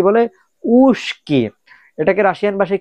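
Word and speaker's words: узкий: উ, জে, কে, ই, ইগরাতকা, উস্কি। আসলে উচ্চারণটা হওয়ার কথা ছিল কিন্তু উজকি, উজকি, বাট উচ্চারণটা হয়েছে উস্কি।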